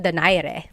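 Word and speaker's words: Donaire: So, our first poll here is going to be Mani Pacquiao versus Nonito Daire or is in in the Tagalog uh pronunciation. Nonito Dare.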